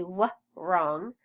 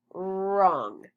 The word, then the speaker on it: wrong: WR just says R, like it's a silent W. We don't say W wrong. We say wrong.